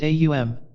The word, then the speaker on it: AUM: it in this light a is a guttural sound as you pronounce it you will note it starts in the throat to pronounce you the lips must be thrust forward M you will note is formed by pressing the lips together causing a resonant tone